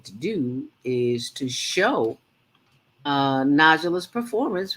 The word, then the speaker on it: Najlaa: And that was Naja. Oh, am I pronouncing her name right, Falake? Najla. NAJLAA. Right, Najla.